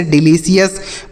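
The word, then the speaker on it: delicious: जैसे treasure major pleasure composer सी आई ओ यू एस रहे तो उसे सीएस पढ़ते हैं। जैसे डिलीशियस प्रिसियस कॉन्शियस जुडिशियस।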